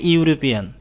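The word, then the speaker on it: European: যেমন for example, she ইজ এ ইউরোপিয়ান, এখানে প্রথমে ই আছে কিন্তু উচ্চারণ হচ্ছে ইউ, এই কারণে আমি এখানে এ বসিয়েছি।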